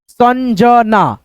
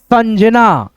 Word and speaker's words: संजना: इस बिंदी को हम लोग न पढ़ते हैं। चन च न द चंदा ऐसे करके संजना संजना रंजन रंजन आ की